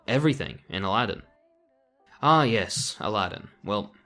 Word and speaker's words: Aladdin: Ah yes, Aladdin. Well, Aladin as it's properly pronounced.